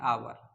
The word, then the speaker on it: hour: लेकिन अगर इसको हिंदी उच्चारण करेंगे तो एच शब्द साइलेंट हो जाता है, ये आपका पढ़ेंगे आवर।